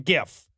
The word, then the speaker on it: GIF: It's pronounced fucking GIF, right? I am not saying both sides have equal claim to the pronunciation here. The majority of people say GIF, and outside of proper nouns, pronunciation is determined by the majority.